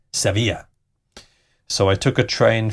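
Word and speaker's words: Sevilla: from Malaga to Seeva I am pronouncing this in the Spanish way yes seevilla so I took a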